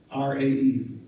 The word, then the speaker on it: Ra: Or R-A-E. I think it's pronounced Ra, but it looks like Ray.